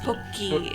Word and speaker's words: Pocky: It's pronounced Poki in See, I've never Japanese, seen a Pokestick